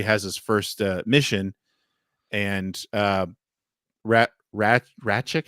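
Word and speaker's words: Rasczak: But then all of a sudden he turns into this after he has his first mission, and Ratchik, how do you say his name? Yeah. Razchek.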